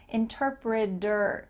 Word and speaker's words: interpreter: Interpreter. Do you notice that same thing happening at the end of this word? It sounds like D-E-R.